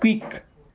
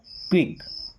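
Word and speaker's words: quick: क्विक देखिए यू के बाद कोई भी वोवेल अगर आ जाता है तो यू हमारा वहां पर साइलेंट हो जाता है। यानी कि यू का उच्चारण नहीं करते हैं।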